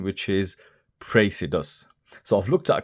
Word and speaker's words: Praesidus: now in the past I've called this watch predus because the name is a dyslexics nightmare but we'll try and keep with the correct pronunciation which is praus so I've looked at a couple of the